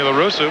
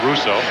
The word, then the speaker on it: La Russa: I want to talk to Canseco, to Ricky Henderson, Tony La Russa. And that's exactly the way La Russa, excuse me, not Russo.